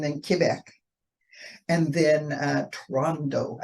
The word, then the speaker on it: Toronto: Quebec and then uh Toronto actually Rondo oh so they don't pronounce it no there's no T's and then um you got